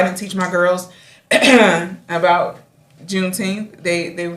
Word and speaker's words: Juneteenth: Juneteenth.